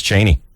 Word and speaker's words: Cheney: That's Cheney. Cheney, actually, is the pronunciation.